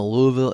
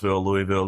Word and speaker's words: Louisville: Spoiler alert, if you're in the Louisville area, go by and check it out.